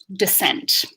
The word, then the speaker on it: descent: Descent.